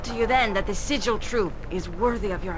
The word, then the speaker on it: Sigil: supposed to speak to funny that she said sidjal troop maybe they changed it after uh everyone just started calling it that or just went with it but it is pronounced sigil hello you said you needed help wait for